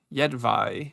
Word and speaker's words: Jedvaj: Oh, the J at the end is pronounced the same as the first one. Okay, so it's Jedvaj, something like that.